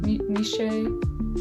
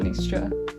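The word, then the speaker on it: Nietzsche: and Nisha Nisha Nishe. Oh, that's my friend, not Nish, not Nisha. Nisha is my friend. Not how you pronounce the philosopher.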